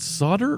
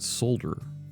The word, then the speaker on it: solder: America but is it solder or is it solder I've heard people say both right solder Sode ER or is it solder where you pronounce the L our forensic code project